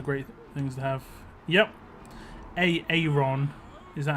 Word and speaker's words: Aaron: it always brings up Aaron or Aaron. Like, Americans pronounce Aaron wrong. They have an I in there that doesn't exist. But the whole joke is Aaron.